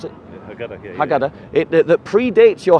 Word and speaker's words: Haggadah: doing is they're taking something that predates your Haggadah. What did you pronounce it? Haggadah, yeah.